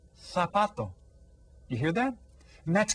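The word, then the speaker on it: zapato: learning here for example the z sound is pronounced as th so that the word sapato which means Shu would be pronounced sapato sapato you hear that and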